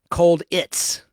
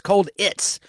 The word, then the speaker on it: Colditz: McCallum starred in the critically acclaimed BBC Universal television series Colditz, which is spelled cold like Cold War, ITZ. Cold It's, like a Ritz cracker. Cold Ritz, Cold It's, which ran from 1972